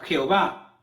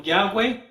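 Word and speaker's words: Yahweh: que él es eterno nosotros lo aprovechamos como jehová otros lo pronuncian como yang wei o llave ya que no hay una pronunciación perfecta correcta al 100% porque fue escrito en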